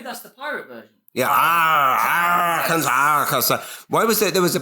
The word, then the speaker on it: Arkansas: Also, why is Arkansas and Kansas? Why are they not pronounced the same when one is Arkansas and the other is Kansas?